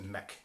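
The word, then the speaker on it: Muick: So it's spelt M-U-I-C-K, but it's pronounced Mick, so Loch Mick.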